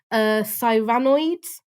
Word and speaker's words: Cyranoids: Cyranoids, like Cyrano de Bergerac.